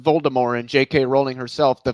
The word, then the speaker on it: Voldemort: is actually silent the name is to be pronounced voldemort and jk rowling herself to fight the fact